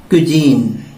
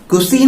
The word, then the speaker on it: cuisine: हम बोलते हैं CUISINE और इसका साउंड है क्विजीन। यस, आप इसको साउंड ऐसे दे सकते हैं, क्विजीन। ये मैं आपको प्रोनाउंसिएशन में हेल्प करने के लिए लिख रहा हूं यहां पे, क्विजीन, कुसीन नहीं, क्विजीन।